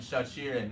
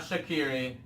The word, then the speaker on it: Shaqiri: Ray, if you would like to pronounce them. So the Jaka and Shaqiri. Not Shaqiri. Shaqiri. Sachiri.